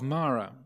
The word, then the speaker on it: Mara: have the figure of Mara Mara literally means death Amravati means the deathless realm Mara is said like my name I'm Amara Amara means deathless Mara